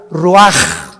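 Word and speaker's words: רוח: exhaló Isaac el Roach así como suena se pronuncia la c en hebreo como J raj se le só y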